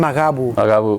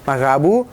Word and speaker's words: magabu: Tapi pengucapannya huruf G itu bukan G, bukan magabu, tapi magabu. Magabu. Itu bunyi itu tidak ada di bahasa lain, tidak ada di bahasa Indonesia, tidak ada di bahasa Bugis.